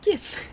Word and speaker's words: GIF: It's actually pronounced GIF.